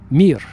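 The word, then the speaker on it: мир: In Russian, it's the word mir, M-I, just 3 letters, mir. Just like the space station, remember the Soviet space station called Mir?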